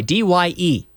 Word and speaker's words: dye: This is dye with a Y, D-Y-E. But it's pronounced like dye de morir.